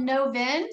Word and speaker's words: Novin: Is it called Novin Spices and Herbs? Am I pronouncing that correctly? Yes, yes. Novin Herbs and Spices.